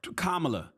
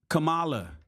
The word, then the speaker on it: Kamala: doesn't have that respect ramsy repeatedly mispronounced Harris's first name As Trump has on many occasions and everybody misspell kamla Kamala Kamala kamla it's funny because she